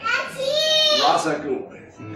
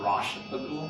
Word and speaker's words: Ra's al Ghul: They call it Rosh al Ghul. Rosh al Ghul. It's Ra's. It's Ra's al Ghul. Yeah. And there are people who go, you will be the next Rosh al Ghul. No, Ra's, dude.